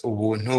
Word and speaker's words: Ubuntu: and by the way, in my language, Kinyarwanda, Ubuntu is pronounced as Ubuntu, which is pretty much just getting things for free.